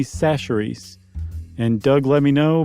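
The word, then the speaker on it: Chachere's: guys remember not but I mispronounced Tony kacheri's seasoning Creole seasoning it turns out it's Tony sacheries and Doug let me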